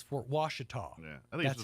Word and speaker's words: Fort Washita: And I've heard so many people say, you're saying it wrong. It's Fort Wichita. I'm like, no, it's Fort Washita.